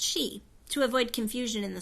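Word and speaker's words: sidhe: says she in Ireland the word she is pronounced she to avoid confusion in the story I refer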